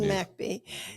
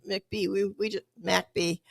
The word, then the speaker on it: McBee: 617 McBee. And we I finally learned how to pronounce it. I was saying McBee, and nobody knew what I was talking about.